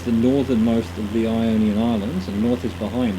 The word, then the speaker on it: Ionian: Ionian? Yeah, Ionian, that's how you say it.